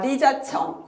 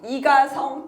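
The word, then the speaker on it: 李嘉誠: 자, 이분 어 리자청 이가성 또는 홍콩 발음으로 리카싱이라는 분인데 이분 역시이 90세인가 그럴 거예요.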